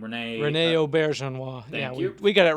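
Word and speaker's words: René Auberjonois: Rene Auberjonois.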